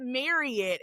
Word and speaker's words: Marriott: it for people at Marriott. We always say Marriott because that's how they pronounce their name. Even though people say Marriott all the time, they pronounce their name Marriott.